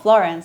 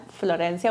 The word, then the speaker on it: Florencia: For example, my name, which is Florencia, it's not common here in the US. You might see some Florence, but still not very common. And I'm not Florence, I'm Florencia, which is not the same.